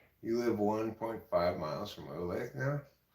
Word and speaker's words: Olathe: You live 1.5 miles from Olathe now? It's actually pronounced Olathe, by the way.